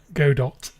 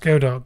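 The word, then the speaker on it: Godot: Before you started learning GDAU, do you pronounce it go dot? That's I feel like it should be pronounced go dot cuz the logo is literally a robot.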